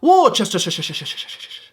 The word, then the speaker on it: Worcestershire: You might see this and you'll try and pronounce it. It's Worcestershire sauce.